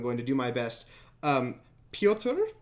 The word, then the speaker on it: Pyotr: Pyotr, I believe it's just Pyotr. It's a Russian name, no last name given.